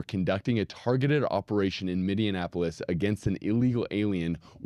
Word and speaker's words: Minneapolis: Okay. Not minion. Minneapolis.